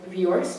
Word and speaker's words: Viorst: It's called The 10th Good Thing About Barney, and it's by Judith Viorst. Is that how you pronounced it earlier? I believe you. Judith Viorst, illustrated by Eric Blegfad.